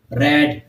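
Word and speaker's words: read: है जैसे second form के प्रनंसीएशन क्या है रेड थर्ड को भी हम क्या रेट क्या प्रोनाउंस करते हैं रेड आगे देखिए वीएफ वेव्ड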